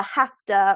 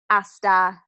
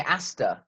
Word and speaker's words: hasta: break that down the hasta which I'll see you don't pronounce the H and then the manana I know mañana means tomorrow so see you hasta mañana a CH or